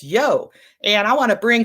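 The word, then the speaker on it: Yeo: We've got a great guest today, Elizabeth Yo. Yo, yes, it's spelled Y-E-O, but it's Yo.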